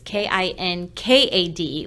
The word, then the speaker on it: Kinkade: It's Kinkad, like the painter Thomas Kinkade, but there's no relation.